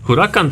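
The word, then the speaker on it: Huracán: ładny jest nie wogóle Dobrze wymawiam nazwę tego samochodu chwilą tak się powinno czytać huragan to huragan ale na przykład dzisiaj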